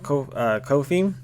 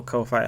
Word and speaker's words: Ko-fi: I had the link for Ko-fi, or Ko-fi, however everybody wants to pronounce it.